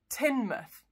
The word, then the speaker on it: Teignmouth: This one does sound like a metal and it doesn't sound like mouth. It's Tynmouth.